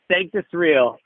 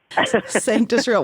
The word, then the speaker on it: Sanctus Real: So we've got a Latin word that we pronounce as though it's English, and then an English word that could be Latin.